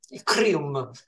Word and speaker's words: Kryuhm: abbiamo ospite una band crium E lo pronunciamo in italiana perché la band è italiana Anche se canta in